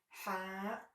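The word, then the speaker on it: ح: ha ha and then as you notice that this letter with which we pronounce it or it's called ha it doesn't exist in in English so this is the first new letter for English speakers that is ha why gene gene it's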